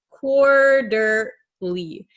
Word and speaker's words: quarterly: know this word quarterly and if you'll notice quarterly this tea is going to become a flap T so if you watch